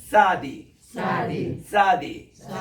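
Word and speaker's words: צדי: 그다음 용어가 조금 이렇게 어려운데 요거 먼저 적고 그다음 이렇게 구워주면은 이게 이제 사디인데 TS 발음이에요.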